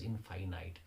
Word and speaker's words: infinite: in five night night most of the people pronounce the word as in finite if finite oh hey fi niti that is finite but when you say infinity that's infinite she took a flight towards infinite that is